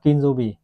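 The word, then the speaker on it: 金曜日: Chữ kim chính là trong tiếng Nhật họ đọc là kinjobi.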